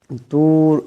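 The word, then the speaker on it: الطور: তুর, এখানে রাটা মোটা করিয়া উচ্চারণ করতে হবে।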